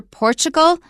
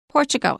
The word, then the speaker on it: Portugal: but watch out for Portugal Chris pronounced the L but when I learned it as a kid it was just an o sound Portugal interesting Portugal have you ever heard